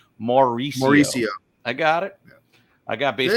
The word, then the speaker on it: Mauricio: Let me get the right pronunciation. Mauricio.